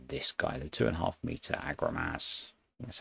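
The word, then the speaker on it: Agromasz: So we're going to go for this guy, the 2.5 meter Agromas.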